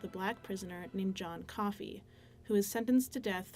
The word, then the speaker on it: Coffey: Your name is John Coffey. Yes, sir, boss. Like to drink. Only not spelled the same.